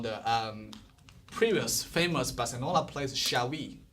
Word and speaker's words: Xavi: Like I know if you guys are soccer fan, you know the previous famous Barcelona player Xavi, right?